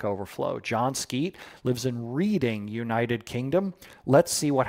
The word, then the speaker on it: Reading: Or Reading. Oh, Surly Dev. I'm so glad you said that. You're absolutely right. Reading, United Kingdom. Yes. UK with all their wacko pronunciations. I say wacko.